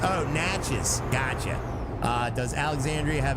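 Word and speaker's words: Natchez: Pronounced Naches. Oh, Natches.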